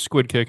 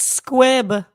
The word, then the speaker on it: squib: kick in a sentence squid it's squib not squid you can't even pronounce it I always thought it was a squid kick no it's not a squid kick it's a squib with a b as in or Ryan